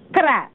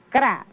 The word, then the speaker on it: kra: ahora para hacer la mochila esto se llama kra y se escribe K r a a se le llam cra pero en idioma de español se llama mochila